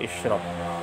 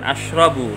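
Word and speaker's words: اشرب: Di sini ada ada lafal ashrab, kemudian apa ini, ashrab atau ishrab? Oh ya, maaf. Ini adalah bukan ashrabu bacanya, tapi ishrab.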